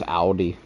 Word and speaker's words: Audi: It's Audi. It's Audi. Same principle, but you got to put emphasis on the A. It's on the A. Yeah, it's not Audi.